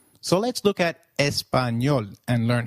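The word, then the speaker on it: español: ah as in father did you notice the letter enye in Espanol this letter is peculiar to Spanish it is pronounced as knee like in Canyon so can you try saying Espanol it is called espanol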